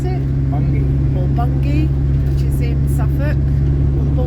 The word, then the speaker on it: Bungay: towards a place called bun bun game they pronounce it for bungie which is in suffolk all the borders of